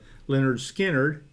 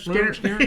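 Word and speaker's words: Lynyrd Skynyrd: Van Sant, which was the head master of Lyn Skyn. And then That's Johnny. not how you say it. Huh? That's not how you say it. You don't say it like that? Skinner. Yeah, Skinner. Leonard Skinner.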